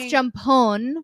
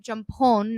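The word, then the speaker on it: Jumpol: Off Jumpon, right? Yeah. You pronounce Jumpon, not Jumpo. One of the Love and the Air boys is called, his name is spelled Noeul.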